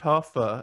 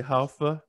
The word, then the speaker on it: Hoffe: Yeah, it's pronounced Hoffe. In Germany, they say Hoffe, and Skelton is my middle name.